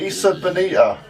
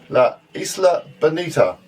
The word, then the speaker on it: La Isla Bonita: Madonna one, the Isa Bonita. La la la. No, we're actually no, you're completely wrong there. No. The Isa, no, La Isla Bonita.